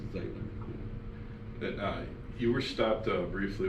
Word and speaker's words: Zeitler: it's spelled Zeitler, so everyone wants to say Zeitler when they say it phonetically, but it's Zeitler.